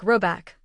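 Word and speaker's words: Råbäck: The manor house or underscore herard in question is to be called rabic pronounced something like robec though that is not its name.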